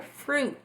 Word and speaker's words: fruit: Outra palavrinha que a gente tende a falar um pouquinho errado, que é a palavra fruit. Fruit. Tá, por quê? Porque esse izinho, ele não é pronunciado na palavra.